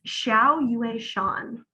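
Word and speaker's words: Xiao Yueshan: the author's name again let me look it's xiao you a sean i don't know that poet interesting how do you spell that nicole it's chinese so it's x i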